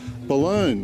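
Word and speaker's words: Balonne: road from the uh information center here in bologna we've heard this is the way it's pronounced and that's the balloon river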